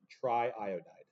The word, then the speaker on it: triiodide: going to be triiodide the double I is allowed and we say it like it's hyphenated triiodide the next one n204